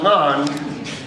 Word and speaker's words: ngan: And you also have ngan, a syllable that starts with like just like ng.